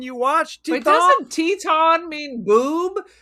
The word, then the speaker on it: Teton: It's Teton is spelled like Titan with an E on the end. Teton.